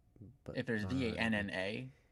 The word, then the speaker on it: Vanna: V-A-N-N-A, it's Vanna.